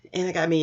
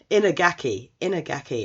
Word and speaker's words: Inagaki: And Inagami is it's Inagaki. I get the pronunciation so wrong for this one.